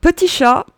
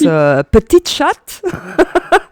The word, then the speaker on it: Petit Chat: We have also Petit Chat. And we hear this name pronounced Petite Chat. Yes. Which works also in French because you can say it in French, but it's a total different meaning.